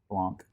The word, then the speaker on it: blanc: uh can only Pratt how do you say in French probably don't say the L noise extra dry Blanc and use three quarters